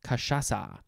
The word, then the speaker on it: cachaça: I think I also use it in French maybe sometimes, but that becomes an S sound, cachaça.